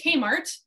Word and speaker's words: Kmart: was bought out by kmart which the slovaks pronounced k'mart and towards the end of that first year a little caesar's pizza pizzeria opened up inside the kumart but that was it